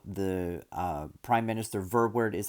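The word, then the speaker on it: Verwoerd: also talked about how the uh prime minister verbward is how you pronounce his name he talked about colin decolonizing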